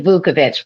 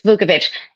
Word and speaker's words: Vukovich: Did I pronounce that correctly? It's actually Vukovich, but close.